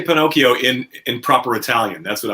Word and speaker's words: Pinocchio: How do you say Pinocchio in proper Italian? That's what I would like. Pinocchio.